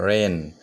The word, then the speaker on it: wren: आम परे तंग रेन रेन माने WREN रेन इनके W नि और बिनि प्रोनाउंस फाया इनका जगह ओ रेन